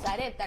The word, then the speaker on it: Sarepta: Nuestra hermana Vale Leal dice: la viuda de Sarepta, amén, que recién ahí nos enteramos que era Sarepta, nosotros estábamos pronunciando mal.